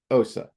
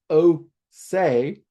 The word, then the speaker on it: Ose: Some people pronounce it Ose, and that's fine. I have always pronounced it Osa, and I've looked, actually went spelunking for pronunciations, and those two do seem to be the most popular.